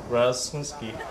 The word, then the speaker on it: Rasmuski: Rasmuski. Comme il est écrit.